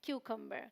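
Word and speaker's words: cucumber: उ साउंड है एक का अ साउंड है क्यूकर क्यूकर मींस खीरा फिर हमारे पास सलाद पत्ता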